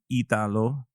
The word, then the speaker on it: Italo: No, it's Italo.